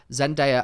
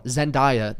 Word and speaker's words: Zendaya: because first of all, everyone pronounces Zendaya's name wrong. Like everyone, Zendaya, they always call her Zendaya in America. It wifey. Oh my God. Which I just don't really get, because her name literally says Zendaya, but everyone says Zendaya.